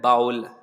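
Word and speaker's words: bowl: कटोरा अगर आपको कहना हो तो उसको हम बाउल बोलते हैं, ये यहाँ पे बूल लिखा हुआ है, एक्चुअली इसका प्रोनाउंसिएशन होता है बाउल, बाउल यानी कटोरा।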